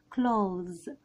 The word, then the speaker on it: clothes: يعني شايفين دي ما فيهاش تي اتش خالص، فبتتنطق كلوز زيها برضو بنفس الكلمة اللي معانا النهاردة اللي ما قلت لكم عليها. يعني كأننا بالظبط بننطق كلمة كلوز اللي هي يغلق، فزي ما قلت لكم التي اتش مش بتتنطق وبننطق على طول الاس، بننطقها زاد.